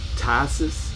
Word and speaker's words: Phthisis: out how to pronounce i looked it up and i think i'm going to be right when i say this is tisis p-h-t-h-i-s-i-s and the name of